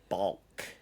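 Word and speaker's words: balk: of all b a l k yes a bulk yes I don't even like how it's pronounced or spelled yeah it's not like a chicken B it's a BK bulk and what is a bulk um basically it's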